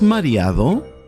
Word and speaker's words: mareado: ¿Estás mareado?